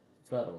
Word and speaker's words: subtle: B is silent. You can't hear it, but it is the 3rd letter in the word.